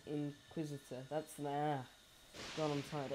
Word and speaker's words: Inquisitor: all your points in the how do you pronounce that? It's Inquisitor.